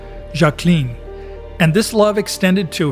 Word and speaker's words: Jacqueline: She even preferred the French pronunciation of her name, Jacqueline.